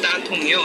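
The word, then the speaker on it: 大同: 거기 이제 다 뭐라고 발음이? 거기는 대통? 따통이라고 하죠. 따통이요.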